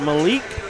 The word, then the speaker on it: Malik: You pronounce it Malik? Yes, sir. Okay, that's what we've been saying. Good. Got Malik up here with me and Caleb Roach.